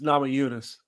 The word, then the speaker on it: Namajunas: It's Namajunas. Thug Rose Namajunas. Put some respect on her name. Oh, well, you just could have said Thug Rose. I ain't know her last name was Namajunas.